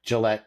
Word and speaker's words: Gillette: from my research where you're at in Wyoming, Gillette, is that the correct pronunciation?